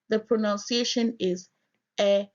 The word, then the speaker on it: Eʋe: The pronunciation is Eve. To make this V sound, you have to purse your lips and force air through your lips.